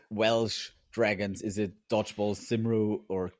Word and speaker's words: Cymru: Uh dodgeball camry. Camry. I would not have picked it. Camry. So basically just switch the two um letters out. It's camry instead of kimu how you write it.